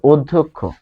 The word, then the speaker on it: অধ্যক্ষ: হয়েছে বা প্রয়োগ হয়েছে ফলে অধ্যক্ষ অধ্যক্ষ উচ্চারণটা হবে অধ্যক্ষ কিন্তু বানানটা কিরকম এরকম ফলে এখানে আমরা একটা পার্থক্য দেখতে পাচ্ছি তারপর আমরা বর্গীয় জ